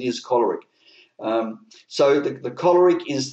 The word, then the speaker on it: choleric: perfect sorry the powerful choleric uh some people pronounce it calleric apparently the correct pronunciation is choleric um so the choleric is the leader um